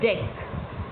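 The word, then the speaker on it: deque: DQ pronounced as deck is an arrangement in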